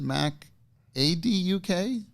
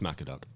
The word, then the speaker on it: MacAD.UK: wrong the whole time is it Mac ad UK no it's Mac a dog yeah I just wanted